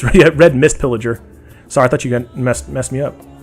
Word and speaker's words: Red Mist Pillager: Am I saying it wrong? Red Piss Villager? Oh, no, it's Red Mist Pillager.